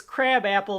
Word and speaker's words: Krabappel: But the whole joke here is that Krabappel is the way that her name is pronounced.